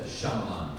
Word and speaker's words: Shyamalan: It's a Shyamalan. Shyamalan. Yep. Shyamalan. That sounds like a like a 50s song.